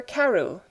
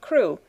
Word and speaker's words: Crewe: Madame Pascal pronounced it as if it were Carew instead of Crewe, but that might be merely a matter of pronunciation.